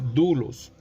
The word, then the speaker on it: doulos: como duros si se escriben doulos pero se pronuncia como duros esta palabra significa un esclavo un siervo si